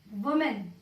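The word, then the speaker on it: women: ठीक है, मैं अगर आपसे मैन का फेमिनाइन बताऊं, वुमेन, इट बिकम्स वीमेन। यानी जब हम इसका सिंगुलर वाला बोलेंगे तो हमें प्रोनाउंस करना है वो, वोमेन, वोमेन।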